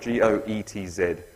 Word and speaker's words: Goetz: It's spelt G-O-E-T-Z. I'm going to pronounce that Goetz. And G-R-A-E-F-E, Graefe.